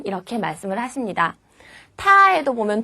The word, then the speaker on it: 他: 타에도 보면 두 가지가 있어요. 하나는 사람 인변이 있는 타고요. 하나는 계집여변이 있는 타예요. 그래서 남자를 가리킬 때 타, 여자를 가리킬 때도 발음은 타 똑같아요.